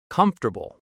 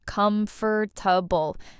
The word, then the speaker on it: comfortable: comfortable A lot of learners say every letter, com-for-ta-ble, but native speakers say it shorter, comfortable. Three parts, not four.